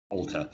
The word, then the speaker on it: altar: used for religious purposes altar but that spell a-l-t-a-r not e-r however the pronunciation is the same okay what's the next